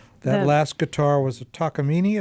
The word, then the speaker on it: Takamine: last guitar was a takini is that how we pronounce it I think so yeah takam that's how I've heard I I called it Takamine but everyone says takini well I'm noticing that